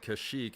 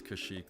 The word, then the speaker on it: Kashyyyk: wook home world see I've always said kashik and I think kashik is the right way but the the game